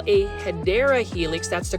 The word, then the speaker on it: Hedera helix: And whenever you're at Kroger, you know I'm gonna say Hydra helix. Now, for those that are new to the channel, I just kind of mispronounce Hedera helix.